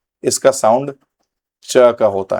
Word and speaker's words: Czech: Country का नाम है जिसको मैं कभी बोलता था ज़ेक रिपब्लिक, मुझे भी नहीं पता था इसका सही प्रोनाउंसिएशन क्या है, लेकिन मुझे एक ज़ेक रिपब्लिक के ही एक इंसान ने बोला कि इसको चेक बोला जाता है, चेक रिपब्लिक।